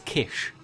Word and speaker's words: Kiss: Daniel kiss himself um is that because it's Hungarian the two s's is is is like an S and a h so it's Kish um I was told